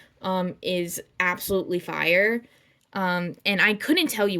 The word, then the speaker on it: ube: those desserts that feature Ube ubby I'm just going to say U because I think that's pretty much how we pronounce it in English um but a lot